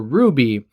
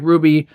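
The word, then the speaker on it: RWBY: before but it's for Ruby which is spelled rwb why well DC Comics is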